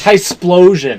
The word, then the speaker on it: Typhlosion: Typhlosion.